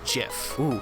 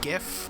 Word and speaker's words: GIF: like to argue that the only people who say hydrogen are the same people who pronounce gif as jiff did i just state my stance on that non-issue yes i did it is not jif it is gif and it is not